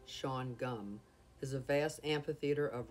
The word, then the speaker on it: Shawangunk: colored lumber and furniture the schwann gunk correct pronunciation sean gum is a vast amphitheater